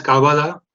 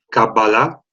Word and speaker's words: cábala: bueno el tema es cábala mejor cábala con acento en la última y erotismo metáforas y